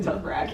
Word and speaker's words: Dothraki: Dothraki.